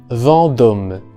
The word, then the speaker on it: Vendôme: En la palabra Vendôme tenemos primeramente en la primera sílaba la vocal nasal en, que ya he descrito mucho aquí, es la misma vocal de champ, por ejemplo. Vendôme. Y la segunda vocal, o mejor dicho, la vocal de la segunda sílaba, O, una O muy cerrada. Vendôme.